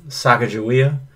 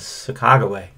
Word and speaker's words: Sacagawea: Many people call her Sacagawea, but I believe the correct pronunciation is Sacagawea.